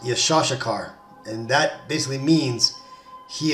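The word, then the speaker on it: יששכר: The name Issachar is in Hebrew pronounced Yeshashakar, and that basically means he is hired.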